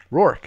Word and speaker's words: Rourke: You're the only YouTuber that pronounced my last name F right. Rourke.